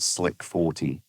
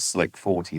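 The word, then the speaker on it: SLC-40: We pronounce it Slick 40.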